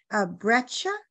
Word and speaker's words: breccia: spoke of something, the sort of top layer, breccia. What is breccia? This questioner asks. Did I pronounce it correctly? Yep, exactly. So if you think of like, sedimentary rocks have certain types of names. So breccia is just the formal name for a certain